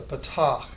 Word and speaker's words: patach: This is an ah sound, and that's how we want to pronounce it. Not ah, not a, but ah. It's going to have just a simple ah sound.